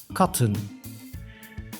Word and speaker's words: katten: means cat and plural cotton the extra T is to stress that in plural the short sound a should be preserved the long sound is